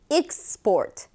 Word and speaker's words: export: 명사 수출이 라고 할 때는 x 폴 이렇게 발음입니다 쑤 7 일 때는 x 폴 수출 하다 동사 일때는 export 이렇게 되는 거죠 expo rex pool 익사 바트